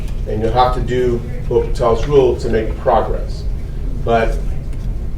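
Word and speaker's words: L'Hôpital: I just kind of butcher and say L'Hopital. It's not as good as. The H But sound. he pronounced it like I pronounce.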